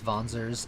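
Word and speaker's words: Wanzers: voice acted game how they always correctly pronounce vonzers and then every other game after this where there was voice acting and they see that W and they go can't be pronounced any other way.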